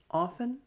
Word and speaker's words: often: you see the adverbs often rarely never and what are they modifying play music eat pizza gets drunk let's repeat the adverbs often often ah did you use a silent t listen again often often